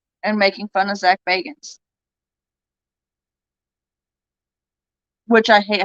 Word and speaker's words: Bagans: watching ghost adventures and making fun of zach bagans which i hate how he says his name it's spelled baggins but he pronounces it bacons and it drives me nuts see it's not